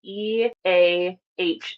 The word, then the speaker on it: EAH: the website, you'll see the EAH Center, pronounced EA.